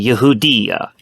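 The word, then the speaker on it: יהודיא: But in Hebrew, the proper term for Judea in Hebrew is actually Yehudiya. And that is spelled Yod, He, Vav, Daled, Yod, Aleph.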